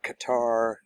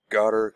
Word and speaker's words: Qatar: of I don't know is it Qatar? Gutter. Cutter. I don't know. I've heard so many different pronunciations. I've always pronounced Qatar. That's the way I'm going to continue to pronounce it.